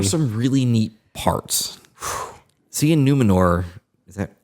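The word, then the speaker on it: Númenor: Seeing Numenor, is that how you say it?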